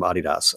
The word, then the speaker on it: Adidas: and one was from Adidas, otherwise known as Adidas if you're American. And I just did that to be cool, but that is how you pronounce it.